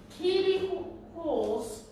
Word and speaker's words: Keely Hawes: Amelia Fox, Keely Hawes, that's how you pronounce it, and Peter Capaldi.